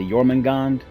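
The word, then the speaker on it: Jörmungandr: i think they say i think they pronounce the yorman gand and just not the r on the end yormangan showed no signs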